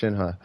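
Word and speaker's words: Shenhe: it's all good though I acknowledge is shinha but I pronounced it Shin because I prefer in this a fictional character not like she'll get mad I'm pronouncing it wrong yeah two minutes to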